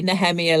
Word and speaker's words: Nehemiah: cuz I think maybe this is more a Hebrew root think because they tend to say nemia like uh like Jewish people do yeah or some American